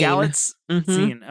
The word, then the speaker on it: Galitzine: Galitzine.